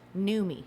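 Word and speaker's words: Noomi: a total newbie what my name it's pronounced newmie messing around with people's lives on behalf of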